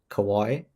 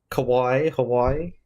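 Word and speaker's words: かわいい: Kawaii depending on how you pronounce it. Kawaii Kawai Dio. You say co co. Yeah. With a W. Scary or frightening. But with the A it means cute.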